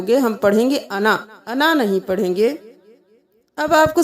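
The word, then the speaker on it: أنا: वो साइलेंट हो गया। हम पढ़ेंगे अना अना नहीं पढ़ेंगे।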